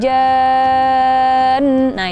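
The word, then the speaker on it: الجان: Kesalahan ketiga adalah ketika membaca ayat wa khalaqal janna min marijim min nar. Nah, di situ jan itu panjang dan di situ ada nun yang bertasydid.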